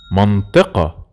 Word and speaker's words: منطقة: We said earlier that the قاف, Masri, they say it A. So they say it منطقة.